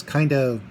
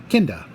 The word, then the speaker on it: Kinda: Because the next episode is kind of actually it's pronounced Kinda, which is the name of the native inhabitants of the planet they land on.